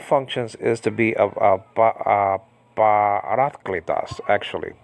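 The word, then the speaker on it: παράκλητος: And one of the functions is to be a parakletos, actually, parakletos. A lot of people say parakletos, so they have the wrong emphasis on the wrong part of the on the wrong part of what actually parakletos actually.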